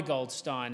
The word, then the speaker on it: Goldstein: of goldstein is named after a suffragette via goldstein and i can say with absolute confidence that's how her name is pronounced because in my research my first speech